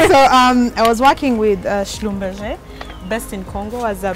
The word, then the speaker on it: Schlumberger: Anyway, so I was working with Schlumberger. Best in Congo as a petroleum. Wait, how do you say that? You say it's so fancy. Schlumberger.